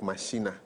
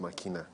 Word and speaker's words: machina: machina love ex machina the makina looks like mashina but it's pronounced makina okay and it means